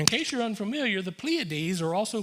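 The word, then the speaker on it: Pleiades: pleades I never knew that's the way he pronounced it till I looked it up this week the pleades and Orion and overturns the shadow of of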